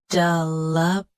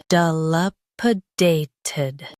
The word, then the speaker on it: dilapidated: Dilapidated. Dilapidated. Stress day. Keep p soft and finish with ted clearly.